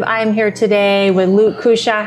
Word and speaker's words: Cuccia: I'm here today with Luke Cuccia.